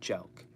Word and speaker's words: jelq: Jelking is spelled Jelq, okay? That's the word jelk.